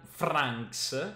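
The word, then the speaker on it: Vranckx: Parlo di Aster Jan Franks, mi raccomando la pronuncia, la V è una F, anche se lui è belga, Franks, perché gioca in Germania, quindi Franks.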